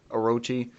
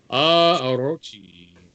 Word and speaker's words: Orochi: Orochi. I don't know. I don't think you roll the R. Probably not. That is usually the R sounds more like an L in Japanese.